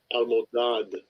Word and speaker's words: Almodad: How you pronounce his name? Strong's Almudad. H486. Almodad.